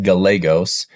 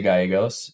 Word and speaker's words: Gallegos: I love that man the L's not silent in my the way that me and my family pronounce our last name we pronounce it Galos I think the proper